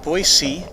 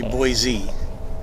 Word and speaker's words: Boise: about boise he says the people in boise pronounce it boise and the rest of us say boise boise and it doesn't sound